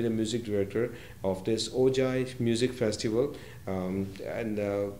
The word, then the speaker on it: Ojai: moving on to the ogi music festival yeah i hope we are pronouncing right it's uh the ogi musical um the ojai music festival announced the appointment of